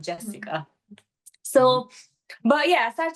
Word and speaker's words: Xhesika: at my name like how do you even pronounce this because they in Italy is like cica it's not Jessica so but yeah I start to find my